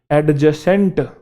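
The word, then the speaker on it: adjacent: जैसे एक शब्द होता है एडजेसेंट, एडजेसेंट नहीं है वो, एडजेसेंट है। क्या है? एडजेसेंट। एक वर्ड है एडजॉइनिंग, एडजॉइनिंग नहीं है वो, एडजॉइनिंग है, एडजॉइनिंग।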